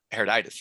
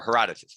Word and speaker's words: Herodotus: even the early historians like uh herditis right or herodotus my bad pronounced it wrong uh like and i